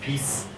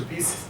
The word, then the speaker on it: PiS: The Polish name is PiS, PIS, and I think that I got the Polish pronunciation right.